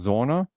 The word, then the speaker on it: Zona: um going to say her last name is pronounced Zona with a z and she was 26